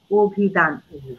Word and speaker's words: অভিধান: কিন্তু উচ্চারণ করি নদী আমি লিখেছি অভিধান আমি কিন্তু উচ্চারণ করি অভিধান আমি লিখেছি দক্ষ দক্ষি